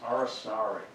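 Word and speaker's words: Aracari: I love this one, the Arasari. They don't pronounce that with a C. It's S. Arsari.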